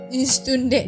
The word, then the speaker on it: üstünde: kemudian ada lagi tuh Itu ustunde itu u-nya titik dua semua kan jadinya bacanya istune istunde dimonyong-monyongin Ya bibirnya istunde kemudian ada lagi tuh